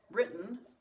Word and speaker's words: written: If you want to use the written, then that's how you spell it with 2 T's. And again, kind of like with bite and bitten, that's how it's pronounced.